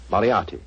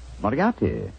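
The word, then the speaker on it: Moriarty: People will either misspell it or mispronounce it. I'm afraid I'll have to begin calling it the way it looks. M-O-R-I-A-R-T-Y. Moriarti. Moriarti.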